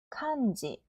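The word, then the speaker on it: 漢字: 응 뒤에 오는 것도 약간 된소리처럼 발음이 되는 경향이 있는데 모든 단어가 그런 건 아니에요. 한자는 카은지, 칸지.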